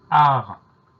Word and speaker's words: art: C'est le mot art. Art, ça s'écrit A-R-T. Donc on a une lettre muette à la fin de art, c'est le T.